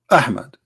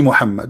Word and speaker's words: Muhammad: name of this prophet mohammed okay hamid ie Muhammad but it is not Mohammed I mean there's a huge difference in the pronunciation he was different in